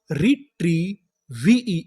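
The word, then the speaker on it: retrieve: आखिरी में लिखा है ई, आपको पता है कि आखिरी में ई लिखा हो तो हमें ई का उच्चारण नहीं करना होता। तो हमारी पूरी मीनिंग क्या बनी? रिट्रीव, रिट्रीव, रिट्रीव।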